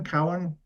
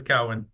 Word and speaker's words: Cowen: He's did I say I don't know if Cowen? How do you say You that, actually Jeff? said it correct. Nobody ever Ah, does, but you are correct. It is Cowan.